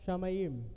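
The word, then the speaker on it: שמים: is commonly translated from the Hebrew it is pronounced as shamayim and the grip or a knows the meaning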